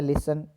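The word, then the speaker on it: listen: और डी में है लिसन तो यहां टी है यह साइलेंट ध्वनि है तो इसको हम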